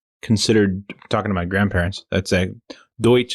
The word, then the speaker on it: Deutsch: We actually just found out that that's actually considered, talking to my grandparents, Deutsch is the way you pronounce it, and it's not Dutch at all.